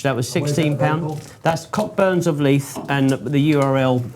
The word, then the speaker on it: Cockburn: That's Cockburns of Leith and the URL I think we'll put on the video for people to see. Is it not Cockburns?